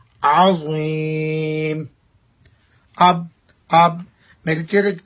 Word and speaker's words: عظیم: عظیم عظیم پڑھیں گے تو معنی بدل جائے گا، تو لہٰذا پڑھنا چاہیے عظیم.